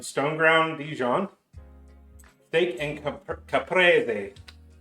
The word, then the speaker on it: caprese: Steak and caprese. It's an Italiano. I think the English, the U.S. pronunciation would be caprese.